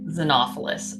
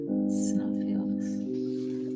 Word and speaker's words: Xenophilius: No, we could get the minifigure of Xenophilius, but like Xenophilus. Okay, I wanted to make sure I said it right. yeah, like Xenophilus.